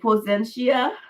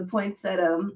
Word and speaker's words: poinsettia: I'm like Potentia. Potentia. That's how I pronounced it because I didn't know how to pronounce it. But yeah, the poinsettia.